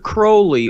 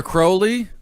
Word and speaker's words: Crowley: created specifically from 1972 to 1976 but Aleister Crowley also believed that are you gonna do that now are you gonna do the curly thing Crowley is how you pronounce it la ster yeah